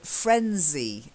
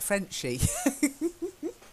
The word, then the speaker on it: frenzy: Then frenzy. It's got to be a z. When you said it sounded a bit like Frenchy. I thought your French was coming out again.